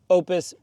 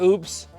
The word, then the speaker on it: OUPES: like to say this I always try do the best calling the Brand's name correctly it's saying Opus i' I've had that pronounced in my last videos but my son Oliver did notice this no power oops with oops so with that tagline